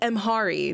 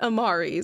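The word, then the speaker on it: Mhairi: few days ago that I was pronouncing omari's name wrong it's actually mhari not Amari so um I'm going to correct myself and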